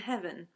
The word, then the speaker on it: heaven: So trouble and heaven, one of those has got to collapse into just one syllable. And in Shakespeare's time, heaven was often pronounced as heaven.